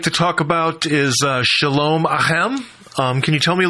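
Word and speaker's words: Shalom Aleichem: So the first song I'd like to talk about is Shalom Ahem. Can you tell me a little bit about that song? Am I pronouncing that correct?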